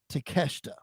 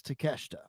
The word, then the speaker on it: Takeshita: me the pronunciation of his name and it's takeshita takeshita so the eye is silent if they were correct it's takeshita takeshita okay well he is like right now